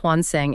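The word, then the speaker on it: 환생: Look at her covers of Rebirth, that's pronounced Hwanseng and Hije.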